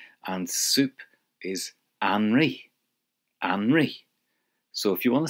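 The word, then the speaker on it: anraith: And soup is anri.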